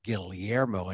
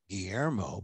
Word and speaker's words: Guillermo: name i don't pronoun i pronounce it the filipino way gil gilliermo and not guillermo but uh catholicism is